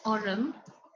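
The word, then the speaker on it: aurum: So this one, AU is arum. This is how you spell it, arum.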